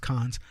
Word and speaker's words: Cannes: They knew him in the film festival Cannes, whatever you want to call it, but it's pronounced Cannes.